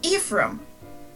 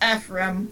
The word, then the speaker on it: Ephraim: Then, months later, we get Inez, and he says Ephraim. That's how I personally say it. And both of those are legitimate pronunciations for the name. They both are correct.